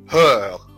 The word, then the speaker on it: heure: de 13 heures طيب ملحوظة ان حرف الاش زي ما قلنا قبل كده لا ينطق في اي كلمة فرنسية. يعني بالتالي ما اقدرش ان انا اقول heure غلط انما اقول heure de 13 heures 57.